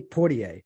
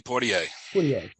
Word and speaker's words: Poitier: I looked on YouTube for the correct pronunciation. I think it's Sidney Poitier. Sidney Poitier.